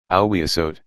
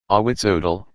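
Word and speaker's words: Ahuizotl: She say his name is, Awiasot. Awitzodal, Indiana corrected automatically.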